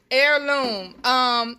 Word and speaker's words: heirloom: Heirloom. Heirloom is Gail Morris spelled H-I-E-R. Like heir to the throne.